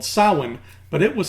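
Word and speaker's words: Samhain: in the day that Halloween replaced was called Salling but it was spelled like this so just take the first half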